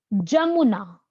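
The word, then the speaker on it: Jamuna: लिखिए जमुना नॉट यमुना। यमुना तो हमारी है। यमुना तो भारत के अंदर है जो कि गंगा से मिलती है इलाहाबाद में। लेकिन यहां पर नाम है जमुना। स्पेलिंग में फर्क है जे है।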